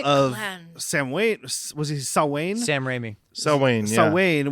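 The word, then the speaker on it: Samhain: Ry sa sa Wayne which everybody always says Sam Hayne because that's how it's spelled but it's Gaelic so it's sa you don't say any of the letters you see s's world except for the first and last letter the letters in the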